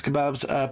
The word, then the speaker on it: Kebabs: Thank you t hunter for following my my yeah my name is kebabs pronounced the same way you say the food so it should be